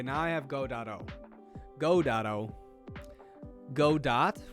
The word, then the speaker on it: Godot: go dot wrong language chat nice try nice try even though it's pronounced godot but how would i